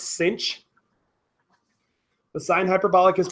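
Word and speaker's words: sinh: hyperbolic of X now this is kind of weird but this is pronounced cinch this is pronounced cinch the sine hyperbolic is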